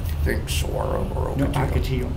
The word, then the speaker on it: Ocotillo: No, Ocotillo. Ocotillo. And spell that, please.